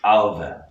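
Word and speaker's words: Ailbhe: In Irish, it's Alva. So again, this is one of those times where the BH is a V.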